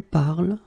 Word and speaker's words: parles: So it does mean that even if you write them differently, E, ES, and then ENT, you will pronounce them the same way.